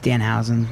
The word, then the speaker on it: Danhausen: are excelling to any You got his name wrong. opportunity that is given to us by John Thorne. It's just Danhausen. There's no first name.